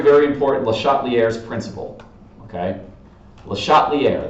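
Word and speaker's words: Le Chatelier: LeChatelier, that's how you say it, LeChatelier.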